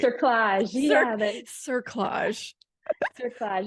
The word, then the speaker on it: cerclage: Collage? That's not right. Cerclage.